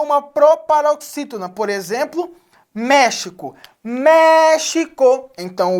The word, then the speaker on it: México: México. Então, o mé é a sílaba tônica, está acentuada.